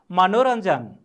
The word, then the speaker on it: मनोरञ्जन: मनोरञ्जन। मनोरञ्जन। भाइ बहिनीहरू ख्याल गर्नुहोस् त, यहाँ आधा यको प्रयोग भएको छ तर उच्चारण चाहिँ नको उच्चारण हुन्छ।